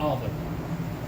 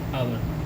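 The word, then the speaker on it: hour: हम देख रहे हैं कि आवर जो है ये एच है, ये एच से शुरू हुआ है, एच एक कॉन्सोनेंट होता है और कॉन्सोनेंट से पहले हमें ए लगाना है। चूँकि इसका जो उच्चारण है वो एक वॉवेल की तरह है, आवर, ठीक है, आवर स्वर ध्वनि से प्रारंभ है, तो इसलिए हमने यहाँ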